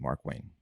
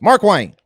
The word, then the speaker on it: Markwayne: capitalized it's mark yes say it like this mark wang mark wayne like mark twain yeah mark wine no hyphen no not